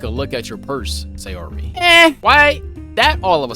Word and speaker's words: Sayori: Sayori.